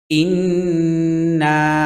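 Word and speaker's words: إِنَّا: রাহমানির রাহিম ইন্না না এখানে তিন আলিফ টান হবে ইন এখানে ওয়াজিব গুন্না হ্যাঁ এটা গুন্না করতে হবে আর এখানে না এখানে তিন আলিফ টান হবে ইন্না আ তাই না আ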